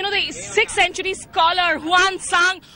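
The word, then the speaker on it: Xuanzang: the 6th century scholar one son or whom in fact the Chinese pronounces Swan tongue this place is always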